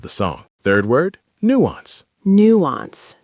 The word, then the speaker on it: nuance: Nuance. Nuance. Stress on the new.